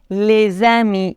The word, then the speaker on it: les amis: Mais attention, quand un nom pluriel est commencé par une voyelle, on doit faire la liaison. Les idées, les amis, ici, le S se prononce Z.